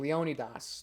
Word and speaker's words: Leonidas: fighting under king leonidas or if we're to use the right pronunciation leonidas that's the right way of pronouncing it but i'll use leonidas because it's more familiar um and so xerxes